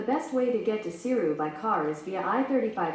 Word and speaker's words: Seiryu: The best way to get to Seiryu by car is via I-35 South and will take about 1 day and 10 hours in light traffic.